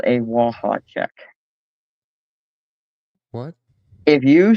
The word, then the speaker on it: Waha: starting in '93, we had what's called a Waha check. What? If you say Waha like the Duke, you're tired and need to go to bed. Waha.